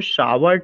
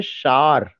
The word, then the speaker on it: shower: When I was the student of UP board, always I pronounced shower, tower, flower. आप ये बताइए, जब आप इसको शावर टावर फ्लावर पढ़ेंगे तो इसमें एक सिलेबल निकल रहा है कि दो सिलेबल निकल रहा है?